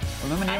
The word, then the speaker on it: aluminium: Aluminium and that's how you pronounce it.